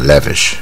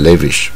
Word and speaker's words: lavish: a very lavish lifestyle 这是大卷舌 lavish 啊 lavish 啊，不要念成 lavish。